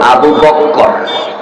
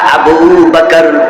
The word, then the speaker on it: আবু বকর: এই আমার বন্ধু শব্দটা আবু বকর রায়ের মাঝে নাস্তিক লাগাইয়া ডবল ক উচ্চারণ করা যাবে না নবীর প্রথম সাহাবী আবু